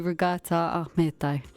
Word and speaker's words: Ragita Ahmetaj: Mine would be Regata Ahmedo. Regata Ahmado.